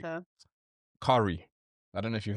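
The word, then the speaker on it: Cari: Curry. I don't know if you've heard of Curry. Curry is amazing. Spell that.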